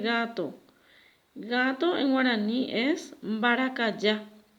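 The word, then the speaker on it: mbarakaja: Gato en guaraní es baracayá. Baracayá. Y acá voy a escribir baracayá. Esta es una J que en guaraní se pronuncia como la Y.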